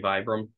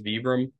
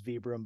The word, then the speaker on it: Vibram: I still say for example I still say Vibram but apparently the correct pronunciation is vbr but it is it is vbr but no one says that considering most of